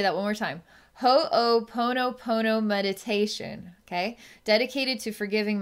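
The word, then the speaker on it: Ho'oponopono: inspired to do a this is pronounced ho pono pono meditation i'll say that one more time ho pono pono meditation okay dedicated to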